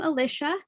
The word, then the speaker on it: Alicia: those hopefully soon but i am alicia aka my name does rhyme with patricia but i will answer